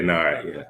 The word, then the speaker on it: Nard: Am I pronouncing it right, Nard? Yeah, Nard.